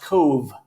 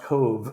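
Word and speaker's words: Cobh: of the ocean and that town is pronounced Cove c b BH is the gaic and it's pronounced Cove so there's a lot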